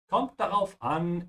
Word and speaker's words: kommt darauf an: Kommt darauf an is how you say it depends.